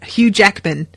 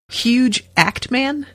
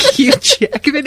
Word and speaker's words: Hugh Jackman: it's infuriating but yes they call hugh jackman hugh jackman huge act man so i'm calling him a huge actor and i just got so distracted something picturing like hugh jackman in this outfit and